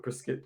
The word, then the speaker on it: prosciutto: Might as well just go but get like a pack of prosciutto.